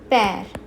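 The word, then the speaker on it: père: land towards land a it's a it's a like like in bed bed a so examples number one pair pair pair means father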